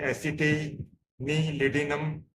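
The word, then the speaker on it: acetanilidum: अंदर दी जाती है जिसके स्पेलिंग है ए सीई टी ए एन आई एल आई डी यू एम उसे एसटी नी लिनम कहते हैं एंटी फबन फि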